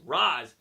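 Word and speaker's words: Ra's: And he hangs up on her because the way you read it, it's Roz. I don't know how people get re out of r apostrophe s.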